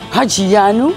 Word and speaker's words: Haji-Ioannou: How does it pronounced? Hajianu, but really you have to call me Stelios like everybody else.